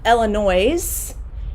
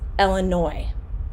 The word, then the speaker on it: Illinois: like this illinois so illinois has an s on the end but we do not pronounce it it is not illinois it's illinois illinois is the state